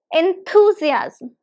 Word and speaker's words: enthusiasm: Z as um enthusiasm there are total five syllables in this word so five syllables that means lots of syllables five syllables and the stress is on enthusiasm enthusiast well the stress is on the second one second one two enthusiasm